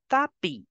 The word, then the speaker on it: tapis: S is for decoration. I will give the sound of E. So together you will pronounce it as le tapis.